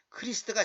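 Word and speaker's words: Christ: 크리스탈 라이스트 그렇게 발음하지만 그 발음은 잘못된 발음이고 크리스트가 정확한 거예요 물론 헬라어로는 크리스토스 일이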